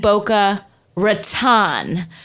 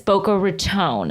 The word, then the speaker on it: Boca Raton: I lived in Boca Raton for many years. And people have said that it's Boca Raton.